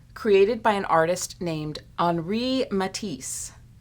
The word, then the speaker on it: Henri Matisse: by an artist named anri matisse when it's written out it looks like henry matissi but it's pronounced henri matisse so he was born